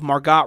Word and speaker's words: Margot: if call her Margo usually that's pronounced Margo even though there's a t on the end yes okay Margo sorry